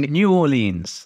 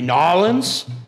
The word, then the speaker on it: New Orleans: New Orleans now don't hate on me for pronouncing New Orleans that's just the way that we say it in my neck of the woods and then the two that you should never ever say will be nawlins and New Orleans who gets a pass on